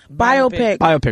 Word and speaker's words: biopic: Biopic. Okay, my bad. You wanted a biopsy. I'm the worst at pronouncing things, Liza.